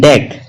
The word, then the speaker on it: deque: stack using deck okay it is written as dq although but it is pronounced as deck as deck okay so what